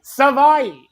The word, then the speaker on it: Savai: The first portion of his name rhymes with Hawaii. Savai. So Savai is the start, and then the rest is all you.